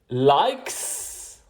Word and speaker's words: likes: Likes, reads, watches. Pour likes, on prononce un S. Pour reads, on prononce un Z. Et pour watches, on prononce is.